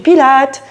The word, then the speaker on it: pilates: Elle pourra choisir du stretching, du pilates ou pilates, hein, la prononciation, on peut dire les deux.